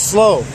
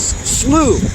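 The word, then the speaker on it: Slough: day elorn elorn SL I kept I kept referring to it as slow some guy said no no it's not it's not slow it's slooh why didn't they spell it s l e w so anyway we're at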